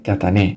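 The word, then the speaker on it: Κατάνη: agli accenti visto che la corretta pronuncia della città greca catania è katane il bello dei confronti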